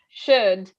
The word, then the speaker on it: should: bit closer and also the o and the u uh make in this case a u sound so you don't need to pronounce both so it's just should should put almost always almost